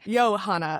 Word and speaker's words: Johanna: Although in Dutch you do pronounce it yo yo Johanna, right? Yo Hana.